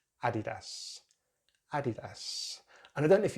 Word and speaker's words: Adidas: Adidas, but in British English, we're going to stick at the beginning for the stress, Adidas.